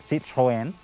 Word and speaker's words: Citroën: citroen is right now if you're french you'd say see troyen but yeah you know